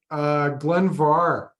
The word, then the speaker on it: Glen Mhor: The last Glen Mhor we had, or Glen Mhor, I got to correct myself. It's spelled Mhor, but pronounced Far.